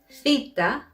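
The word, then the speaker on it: θήτα: difficulty with the following letters vita rama delta fita as you can see i probably pronounced them differently from how you know them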